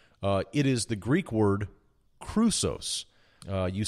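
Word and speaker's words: χρυσός: gold still appears it is the Greek word Crusoe's you spell that CH ru SOS but there are only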